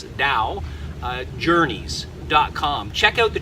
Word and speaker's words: Tao: my website at Tao spelt ta o but pronounce Dao journeys dot-com check out